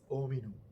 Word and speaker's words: hominum: Panis hominum H 는 침묵 합니다 . 라틴어 . 라틴어 발음 방법 은 나라 마다 다르다는 것 을 알고 있습니다 . 하지만 이 경우 에는 H 를 묵음 으로 취급 합니다 . 티 , 티 소리 , 페니스 . 오미노 , 그렇게 발음 해야 해 요 .